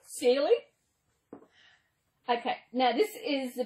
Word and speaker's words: Cely: do it, it is, I've had Kelly. Even the spelling I've had wrong. Yeah, as you see, it's spelled C-E-L-Y. But the way you pronounce my name is like Celie, S-E-A-L-Y, Celie.